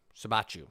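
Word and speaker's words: Siebatcheu: done uh it's jay sivachu jordan sibichu sabachu that's how you say it sorry jordan zabachu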